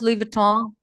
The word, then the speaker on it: Louis Vuitton: How many of you can pronounce Louis Vuitton? You know N is silent.